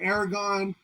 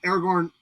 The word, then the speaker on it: Aragorn: time that scene where Aragon walks up to and I know my I've totally mispronounced it but uh Aragorn walks up to the